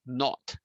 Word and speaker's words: naught: So P naught, by the way, whenever you have 0 as a subscript in mathematics, we read this as naught. Okay, so this we pronounce as P naught, and this is the correct proper spelling.